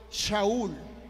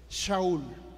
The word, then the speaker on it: Saúl: dijo saulo saulo realmente en el hebreo la manera en que se menciona el nombre de pablo es saúl es la pronunciación sh a él es la pronunciación saúl esa es la manera